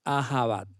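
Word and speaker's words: אהבה: esta palabra qué significa en hebreo como les comentaba se pronuncia a java el amor puede referirse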